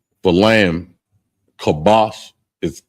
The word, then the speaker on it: kabash: Kabash is K A B A S H.